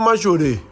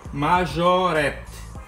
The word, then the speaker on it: Majorette: Eu escuto muito Majorê. Majorê. Tem um T no final. Tá. Majorette. Tem dois T's e um E. Então a pronúncia certa é? Majorette. Majorette. Então, eu vou até parar de gastar meu francês falando Majorê.